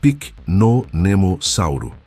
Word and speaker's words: Pycnonemosaurus: O nome é complicado, eu sei. Pronuncia-se Pycnonemosauro e significa algo como lagarto de densa floresta, uma referência ao ambiente onde esse gigante caçava.